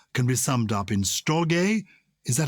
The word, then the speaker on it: storge: All the possibilities of love can be summed up in storge. Is that how you pronounce it? Yes, or storge. I think it's soft or hard G.